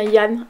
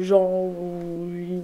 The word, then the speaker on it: Yann: Et on dit bien Yann et pas Jean.